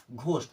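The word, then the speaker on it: ghost: में हो कहीं पर अगर स्टार्टिंग में आता तब तो बोलना है जैसे घोस्ट घोस्ट मींस क्या होता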